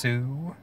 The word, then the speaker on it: Sioux: gonna be trying the I think it's pronounced sue the Sioux City SAR separator the